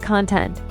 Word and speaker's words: content: same but pronounced differently take content if you stress the first syllable it means the subject object of a book or speech the content of the